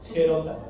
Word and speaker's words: Gerota: como fascia de gerota gerota se escribe con g luego e y ya después Cómo suena sale gerota la primera suer can